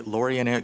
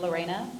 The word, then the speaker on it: Lorena: is going to be laureane miss can you hear me yeah i can hear you um it's pronounced lorena lorena apologies would you please